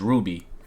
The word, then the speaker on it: RWBY: As you can see from what we have on the screen, we have RWBY Rose from, how you pronounce it is RWBY.